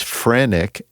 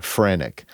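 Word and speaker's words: phrenic: uh, alleged that this frenic, and it's spelled phr. I'd never heard that phrase, frenic.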